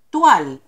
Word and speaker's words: toile: Toile es un término francés. Se escribe toile, significa paño en español.